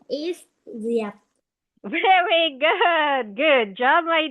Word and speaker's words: Diệp: Her name is Diệp.